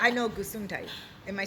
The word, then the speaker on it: Gesundheit: Like, I know Gesundheit. Am I saying it right? Yeah, Gesundheit.